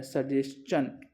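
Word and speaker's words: suggestion: This is सजेशन, TION का यहाँ जो प्रोनाउंसिएशन है वो चन है, सजेशन।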